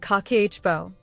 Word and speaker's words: Kakeibo: So, in 1904, she created something called Kikibo, pronounced kakeichibo, which means household financial ledger in Japanese.